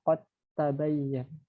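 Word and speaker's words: قد تبين: Dal itu kan harusnya qalqalah ya, qad gitu. Nah, kan tetapi karena di sini ada huruf ta yang makharijulnya itu sama keluarnya kayak gitu ya. Jadi bacanya qad tabayyan. Jadi huruf qafnya itu masuk ke huruf ta seperti itu karena masuk ke dalam idgham mutajanisen, dua jenis yang sama.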